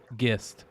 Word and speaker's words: Gist: It's Gist, right? Is that what somebody said that you pronounce it? Gist. Gist? Yeah. Like with a hard G? Yeah, like GIF.